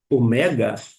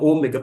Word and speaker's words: omega: anterior ao coinê, e se ele pronunciar alfa, beta, gama, etc e tal, omega, você não precisa dar uma risadinha, achar que ele está errado, não. Porque quando você vai para a letra, a forma de se escrever e justamente é na sílaba tônica que vai marcar e vai te ajudar na pronúncia e você vai às vezes eh ficar maravilhado com um ensino como este. Eu pensei a vida toda que era ômega, porque todo mundo fala